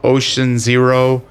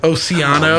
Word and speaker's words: Oceano: Fucking for years, people were saying Ocean Zero, Oceano. Oh my gosh, Ocean. really? It's Yeah. okay. Oceano.